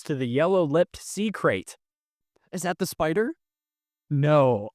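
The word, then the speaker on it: krait: honorable mention goes to the yellow lipped SE crate is that the spider no uh are you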